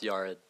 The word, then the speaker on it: Yared: First, it's pronounced Yared.